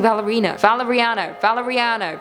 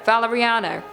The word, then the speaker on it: Valeriano: Stop saying Valerino. Valeriano.